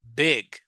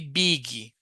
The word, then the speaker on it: big: Don't say biggie. Remember about the sound of the vowels. Yeah, a lot of people say biggie. Yeah, biggy. There was uh the chewing gun. Biggy biggy. Remember big big. It's the real name. So the I here has a sound.